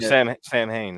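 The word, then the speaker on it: Samhain: Sam Hain is how you say it.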